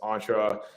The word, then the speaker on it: Entra: Yes, Entra. That's how you pronounce, like, that's how we pronounce it, because it's just short for entrepreneur. But depending on which country you're from, you might say entrepreneur.